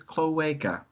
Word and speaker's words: cloaca: you're listening to this cloweka that's how it's pronounced apparently thank you lg thank